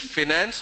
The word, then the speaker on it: finance: Both the pronunciation are accepted. Both are accepted pronunciation.